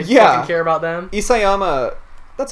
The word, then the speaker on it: Isayama: we not gonna yeah you care about them isayama that's how you pronounce all right you see yeah um you